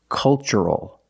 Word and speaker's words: cultural: So the pronunciation? That's right, it's ch. The first word, culture. And the second word, cultural. Also remember the first syllable is a short U, like cup and up. Make a relaxed sound.